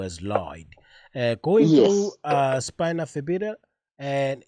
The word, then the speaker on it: spina bifida: spina bifida, and how do you say it correctly?